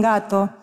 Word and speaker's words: gato: có lúc âm nghe trơn truộc như từ "gato".